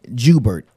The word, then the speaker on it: Joubert: Brian Joubert. Now, is that French? Yes, that's French. So I'll get people to debate me on my last name. Mm-hmm. Like, it's Joubert. Like, well, my daddy say Joubert, so I say I'm going to say what